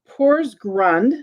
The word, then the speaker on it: Porsgrund: The next thing I have is I have a Pors, I want to make sure I pronounce this right. Porsgrund, Norway.